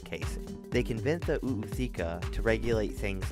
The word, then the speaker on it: ootheca: They hold their, and I have been pronouncing this wrong for years, an oootheca inside them. Yeah, it's Google it. Oootheca, which is a fancy name for their type